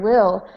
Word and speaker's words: will: yeah, this first word will, when you've got L at the end of a word or an L at the end of a syllable, instead of a L sound like in like or light, this is more like ol. Kind of like the word old, but without the D.